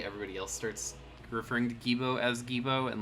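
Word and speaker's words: Geebo: I'll spell it out in chat. Hold on. G-E-E-B-O. Gibo.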